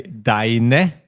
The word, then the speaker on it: deine: So just one thing, be careful when you say deine Mutter. You need to pronounce the E at the end of deine. You can't say deine Mutter, otherwise it's a grammatical mistake, okay?